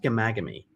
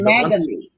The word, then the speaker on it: Ghaemaghamy: Well, listen, you can call me, but it's pronounced Ghaemaghamy, kind of a silent H. So, yeah, it's kind of tricky. Ghaemaghamy. Ghaemaghamy.